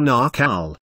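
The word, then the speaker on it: Naacal: this cycle it was called the naal or Nal rhymes with Mall mystery school where they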